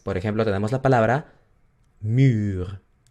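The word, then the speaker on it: muur: La U larga es el sonido U. Entonces, por ejemplo, tenemos la palabra mur, o fur, ¿ok?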